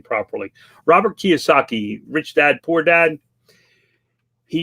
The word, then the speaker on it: Kiyosaki: he pronounced his name to understand how to pronounce his last name properly Robert Kiyosaki Rich Dad Poor Dad he uses this thing